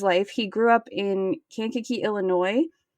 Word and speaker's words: Kankakee: I'm pretty sure that's how you pronounce that name. I listened to the audiobook. That's how the reader said it. And so that's how I would pronounce it. That seems like the right way to say it.